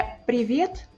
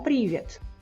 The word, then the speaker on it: привет: É привет, não привет. Владимир, não Vladimir.